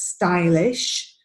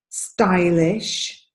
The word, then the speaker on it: stylish: or II right so a lot of you have a tendency to pronounce this as e so I hear steel is your feed but the pronunciation here is stylish stylish this one fried fried